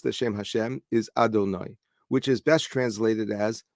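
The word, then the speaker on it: אֲדֹנָי: is the shame but it's pronounced differently than it appears before us it is pronounced Adonai and we talked about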